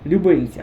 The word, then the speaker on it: Любинці: Любинці друзі Нас вітають не село Любинці чи Любинці а село Любинці все ж наголос на останній букву і все Ну дивіться